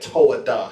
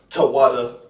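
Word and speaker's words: תודה: They never spoke that Toadah shit. That's crap. You see what I'm saying? They never spoke that Tawada. They never spoke that. It's the water is how you say thank you, not Toadah.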